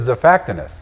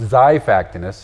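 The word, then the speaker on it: Xiphactinus: This is Zactinus, also pronounced Zyactinus.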